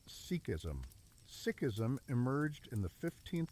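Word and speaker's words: Sikhism: Sikism pronounced sikism.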